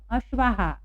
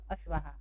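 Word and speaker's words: अश्वाः: त्रयः, यहाँ मात्रा नहीं है इसलिए ह बोल रहे हैं हम, और यहाँ आ की मात्रा है इसलिए हम लोग बोल रहे हैं हा। त्रयः अश्वाहा, 3 घोड़े, ये 3 घोड़े हैं इसलिए यहाँ दिया है त्रयः अश्वाहा।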